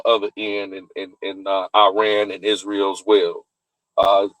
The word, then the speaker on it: Iran: Number one, the first reason is preventing a nuclear threat since 1979 and it's pronounced the proper pronunciation is Iran.